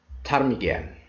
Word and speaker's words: ptarmigan: P is not pronounced at the beginning of many words using the combination PS, PT, and PN.